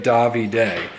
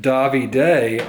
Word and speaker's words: Davide: So I thought it was Pizzeria David. It just made sense in my head that way. But I said Davide on Instagram, and this dude hit me up. He's like, "You're one of the first Americans that like pronounced my name like correctly."